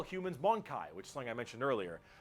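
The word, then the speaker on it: Mon-keigh: they also call humans monai which something I mention earlier um that is a derogatory slur for humans well they I I actually believed it's pronounced closer to Monkey which makes sense in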